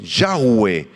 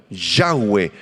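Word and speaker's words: Yahweh: y le dijo yo soy el que soy yahwe yahwe el las cuatro letras hebreas que conforman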